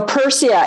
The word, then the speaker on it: Pyrsia: So Persia, it's spelled Pyrsia.